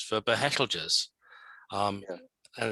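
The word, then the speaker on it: Betelgeuse: well is this it's the same with um pronouncing the names of stars correctly like everybody says beetlejuice for behelders um and it's like hang on a minute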